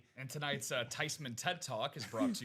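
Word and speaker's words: Thuney: his last name from Theman to Thyman?" She said, "No, I wasn't angry. His name is actually pronounced Tyman. It's a German name. The proper pronunciation is not theman. It's not Thyman.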